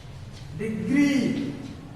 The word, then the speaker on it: degree: syllable beside right beside degree we are taking a long sound on the second syllable degree okay the stress mark fall in the second syllable in this particular word degree right okay now the weak